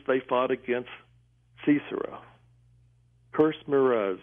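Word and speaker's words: Meroz: Now, if Merez, and that's spelled M-E-R-O-Z, was a city, how could they fly up to heaven to help the Lord?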